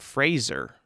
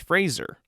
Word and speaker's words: Fraser: He says in this interview that it's pronounced Fraser, like razor, but Fraser.